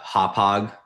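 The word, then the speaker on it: Hauppauge: Um, and then the other search that I did in anticipation of this was just um cuz the office is in uh Hop Hog uh New York, right, on on Long Island.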